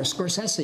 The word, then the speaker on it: Scorsese: how do you want I don't know anymore scorsi is the way normally I say it thank